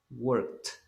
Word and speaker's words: worked: Entonces en el pasado nosotros la vamos a pronunciar como una T. Worked.